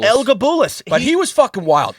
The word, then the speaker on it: Elagabalus: Elagabalus. His name is hard to pronounce, Elagabalus. Elagabalus.